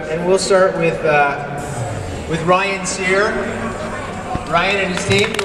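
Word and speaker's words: Cyre: Ryan's last name is spelled C-Y-R-E. I think it's very appropriate that he pronounces it Sear, given that he's a chef.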